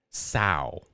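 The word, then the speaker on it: Chin-Hui Seo: Sao is how he pronounced it.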